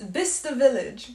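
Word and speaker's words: Bicester: guys have chester village or how do you pronounce it you'll be saying it's different this vista village vista village you guys don't miss the village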